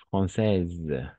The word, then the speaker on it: Française: Française, française, d'accord. E à la fin, on ne prononce pas. E à la fin, on ne prononce pas. Las E no pronunciamos al final.